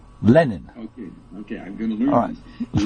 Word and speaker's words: Lenin: you say um um the way you say Lenin it sounds like John lenon what am I supposed to say well I don't know but I I call him it's Vladimir ilich Lenin Lenin okay okay I'm going